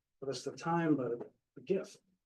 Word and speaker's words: GIF: is a time but GIF that's the right way to say not GIF so on the bottom